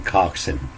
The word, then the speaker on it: coxswain: apostrophe x i n coxon we pronounced it coxon so a jihad win